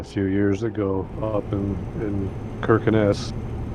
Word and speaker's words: Kirkenes: Yeah, I got to do that a few years ago up in Kirkenes. It's actually pronounced Shirkenes, but Kirkenes, the famous place in TMP is they've got a snow hotel up there.